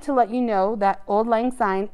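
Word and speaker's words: auld lang syne: let you know that old-line sign is spelled here differently than we would hear it the word ald a-u-l-d means old lang l-a-n-g means long and sine s y and e means since or long ago so it's all about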